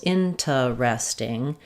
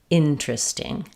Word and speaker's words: interesting: Did you say in ter es ting with four syllables? If so, that's correct, but it sounds unnatural and it's not fluent. It's not how we usually say it in spoken speech. Instead of four syllables, interesting, we typically reduce this down to three syllables. In tris ting.